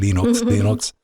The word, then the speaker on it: Linux: And I spent a weekend listening or trying to listen to, my name is Linus Torvalds and I pronounce it Linux.